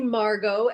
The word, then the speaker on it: Margot: It's actually Margot. A lot of people get that wrong because there's a silent T at the end.